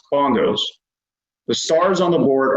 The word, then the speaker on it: BNGOS: For example, the spelling of the BNGOS departure is pronounced bongos.